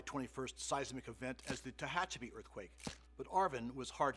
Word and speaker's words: Tehachapi: this huge big earthquake nobody could pronounce tehachapi they would be giving a news report from new york or somewhere and they would call it chechapee or you know weird